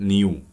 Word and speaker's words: نيو: والفريكونسي دي كده بتتنطق نيو.